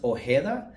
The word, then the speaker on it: Ojeda: So, I pronounce my last name, but it's actually pronounced Oha.